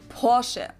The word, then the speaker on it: Porsche: I've heard Americans pronounce it Porsche or Porsche. In German, we say Porsche. So there's like this short A sound in the end.